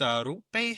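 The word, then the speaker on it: Roope: My boy Rope Hintz. That's how you say his name, by the way. It's not Rope, it's Rope Hintz.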